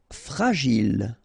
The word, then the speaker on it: fragile: Fragile, okay, final E not pronounced, and then when you get this G and I, J, Gilles, fragile.